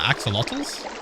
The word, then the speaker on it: axolotls: predator you will ever meet how do you pronounce that axolotls oh my god this is so [ __